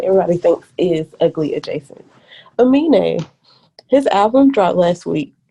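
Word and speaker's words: Aminé: Amine, it's Yeah.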